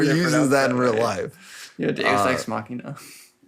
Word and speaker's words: machina: Yeah, it is very doex machine. Uh what what is wild pronunciation?